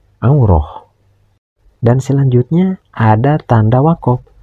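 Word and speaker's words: عورة: Namun bilamana dihentikan membacanya maka huruf ta marbutah yang ada pada kalimat auratun tidak boleh dibaca auratun tapi harus dibaca aurah.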